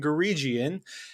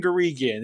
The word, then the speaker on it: Guregian: And, going forward, it's Karen Guregian. It's a hard G.